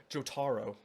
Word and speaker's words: Jotaro: imaginary blood joto thank you for helping me pronounce it correctly jotaro jotoro sometimes all right sometimes I accidentally mispronounce